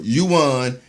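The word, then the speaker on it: yuan: in digital you won did I pronounce that right I owe you won yeah right right you won and bid to boost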